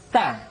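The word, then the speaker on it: ث: tatibat Minal berikut nya huruf tsa tsa dikeluarkan dengan menyentuhkan ujung lidah kita dengan dinding dua gigi seri bagian atas diucapkan dengan suara dan nafas yang terdengar mengalir ta TII tu bat biasanya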